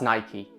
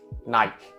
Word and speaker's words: Nike: is quite apparent that I have been mispronouncing the Brand's name for a lot of years so as of today I'm going to make a stand and I'm going to start referring to the brand as Nike so the topic of